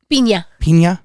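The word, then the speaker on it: Piña: Pina. Yeah, when you have the little squiggle line over the N, it's a ny sound.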